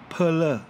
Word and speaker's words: Perler: ง 2 ค รั้ ง ค รั บ Perler Perler น ะ ค รั บ นั ก